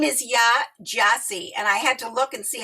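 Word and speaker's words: Yaa Gyasi: Her name is Ya Gyasi, and I had to look and see how to pronounce everything.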